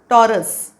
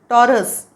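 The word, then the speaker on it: Taurus: पुढे येते वृषभ वृषभ इंग्लिश मध्ये म्हणतात टॉरस उच्चार लिहिलाय स्पेलिंग आहेच हा उच्चार टॉरस स चा परत अर्धा पाय मोडलेला टॉरस आणि टॉरस ही इंग्लिश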